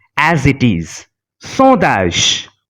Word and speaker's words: sondage: Sondage. The combination ON is pronounced as on because there is no vowel after it.